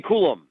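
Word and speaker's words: Coulombe: Kade or how do you say that Danny kulum kulum okay the guy that we saw I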